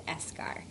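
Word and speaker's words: eschar: to pronounce that but it's esar as in um it's like it's going to turn into a scar esar okay now we know how to pronounce it and I use this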